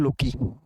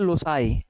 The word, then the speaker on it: loci: Normally हम लोग क्या पढ़ लेते हैं, लोकी। ठीक, मैं खुद ही इवन कई बार ऐसे ही प्रोनाउंस करता हूँ, लोकी। ऑफलाइन क्लासेस में तो बच्चे ऐसे ही लोकी लोकी ही बोलते हैं। तो एक्चुअल में इसका मतलब होता है लोसाई, LOSAI। प्रोनाउंसिएशन ऐसी होती है, बना दिया लोगों ने, हमारी मर्जी हम जो बोलें। ठीक, हालांकि स्टैंडर्ड वे में बोलना सीखना ही है। तो लोसाई होता है और इसी को सिंगुलर